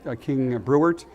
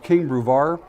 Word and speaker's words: King Brevard: KB, some people pronounce it King Brewert. I've also heard it called King Bratwurst. People joking around about it, but it's called King Brevard.